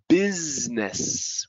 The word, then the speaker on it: business: It's cruise, fruit, juice, suit, recruit, business. We don't even go busy, business. The I there doesn't exist.